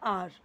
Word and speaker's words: our: आर इसे बहुत सारे लोग आवर पढ़ते हैं जो कि रॉन्ग प्रोनाउंसिएशन है। आपको बोलना है आर।